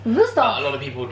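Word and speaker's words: Wüsthof: I pronounce it the German way, 𝑭𝒊𝒏𝒅. 𝑭𝒊𝒏𝒅. A lot of people would call it 𝑭𝒊𝒏𝒅.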